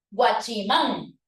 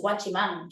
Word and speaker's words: guachimán: tipo de palabra es guachimán bueno es una palabra de tipo aguda y las agudas que terminan en N qué necesitan tie des